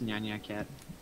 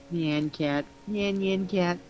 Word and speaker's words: Nyan Cat: uh skeleton is Never Gonna Give Up it's nyanya Cat hello cat I don't think that's the pronunciation what is it neon neon neon neon there we go yeah man Nyan Cat I know it's the cat and dude hates